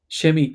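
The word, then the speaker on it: Chemie: uh, then you have So how do you pronounce Kemi? shemi. I say it shemi. I say it. Kemi.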